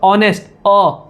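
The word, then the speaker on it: honest: ऑनेस्ट, वापस से लग रहा ऑनेस्ट का, एन लगेगा। यानी कि यहां पर क्या होता है, एच आपका साइलेंट होता है।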